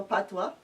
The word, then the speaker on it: patois: language in school like B-I-E-K for bake into patois. And to think patois spelled so P-A-T-O-I-S, which is patois, patois.